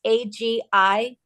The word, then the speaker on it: Agilease: Agiles. Agiles. Spell It's it. for mobility. It's Agiles, Agilease. Agiles, to be agile. All right, I'll look that up. Okay. Agile with an ease on the end.